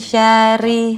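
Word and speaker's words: شرّ: Min syarri. Maaf. Ketika nun pada kata min dibacanya itu jadi min karena ada hukum ikfa dan ada tasydid di huruf ro. Jadi dibacanya syarri.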